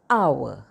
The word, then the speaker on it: hour: an umbrella an egg some words begin with a silent h use n with nouns that begin with a silent h for example an hour the silent h but